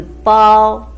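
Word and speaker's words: 包: Second one is the bao. It's a combination of bo and ao we have learned from the previous video.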